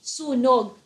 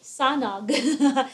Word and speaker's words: sunog: Filipino language for example if the word is say sunog that's spelled as s u n as a Nancy o g sunog you don't say sonog so Travis like read